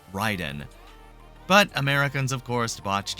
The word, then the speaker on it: Raiden: Classic MK characters, Scorpion, Katana, and Raiden, which actually kind of kills me to say because his name is derived from Japanese and it's supposed to be pronounced Ryden.